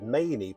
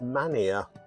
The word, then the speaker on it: Manea: The EA endings in particular can seem unusual to outsiders, even difficult to pronounce. I've even heard Manea pronounced as Mania.